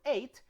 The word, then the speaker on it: eight: end of a word just pronounce the t not the h not the g just the t right like when you